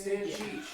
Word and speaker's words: Stancic: Maddie's a dear friend, but I still mispronounce her last name. It's Stancic.